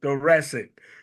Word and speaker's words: thoracic: Anthony Holden, who is, I'm going to let him, all I know is that the correct pronunciation of the THO word is thoracic.